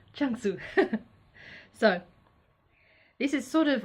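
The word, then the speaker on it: Zhuangzi: how to pronounce it Chun soo not light su Chun soo so this is sort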